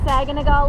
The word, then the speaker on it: Saganaga: the public access for saganaga Lake yes pronounced saganaga not saganaga or how else do people say it Saga yeah Saga it's super freaking windy